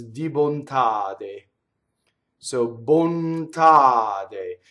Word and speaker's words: bontade: So bontade. Now notice what happens to the N. So N's and M's and L's that touch consonants, they double internally in a word. Did you notice that, right? Bontade, right?